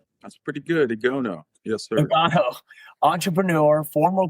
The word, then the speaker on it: Igono: Did I pronounce that correctly? That's pretty good. Igono.